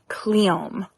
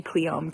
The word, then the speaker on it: cleome: am planning to plant some cleome or cleome. I I I looked it up, and apparently both pronunciations are correct. So, I'm just going to say cleome cuz that's where my brain goes.